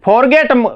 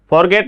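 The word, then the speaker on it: forget: अब जैसे फॉरगेट, इसको पहले भी बता दिया मैंने, फॉरगेट ना बोलकर इसको फॉरगेट इस टाइप से बोला था। आर जो है उसका उच्चारण लगभग बहुत ही कम होता है, क्योंकि उसमें जो वॉवल आ गया।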